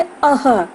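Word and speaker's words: अः: विसर्ग का उच्चारण जब हम करते हैं बच्चों तो ह की आवाज आती है, जैसे अह।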